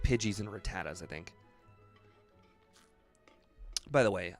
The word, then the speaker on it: Rattata: This guy's got, like, Pidgeys and Rattatas, I think. By the way, I understand that I say Rattata and Rattata interchangeably. And that's because as a kid, I always used Rattata.